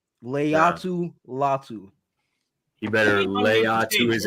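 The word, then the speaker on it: Laiatu Latu: talk about him Leu say it with me Leu latu Leu latu he better lay to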